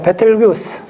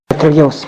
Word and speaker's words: 베텔게우스: 베텔기우스. 베텔기우스 발음이 잘 한번 적어보세요. 발음에 베텔 GEUZ예요. 베텔게우스인가 그래요. 베텔게우스 발음이 그래요.